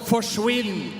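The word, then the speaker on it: forsvinn: it up in Norway we have a word that's called forwin and it rhymes with Quinn so it basically means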